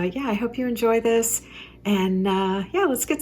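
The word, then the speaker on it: Wiss: it's w-i-s-s it's german i looked up the pronunciation just to make sure and it is this um and these are stamped on the back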